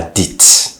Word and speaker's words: dite: La bêtise qu'il a dite. Okay, now you add an E and you pronounce the T. Okay, la bêtise qu'il a dite.